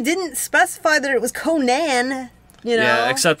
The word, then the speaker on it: Conan: Sorry, you didn't specify that it was Conan, you know? Yeah, except Robert E. Howard pronounced it Conan, so... All right. I was going with the legitimate, original way.